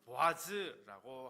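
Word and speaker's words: בועז: 솔로몬이 성전 현관 앞에 세운 두 기둥 중 왼쪽의 이름이 보아스인데요, 그 발음은 히브리어로는 보아즈라고 합니다.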